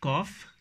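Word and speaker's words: calf: figuratively speaking then 60 words cough CA LF cough cough means a young cow or boom it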